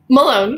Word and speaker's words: Malone: dr melon from uh correct me is that the right way of pronouncing your name alone malone yeah no no i was right okay uh i've been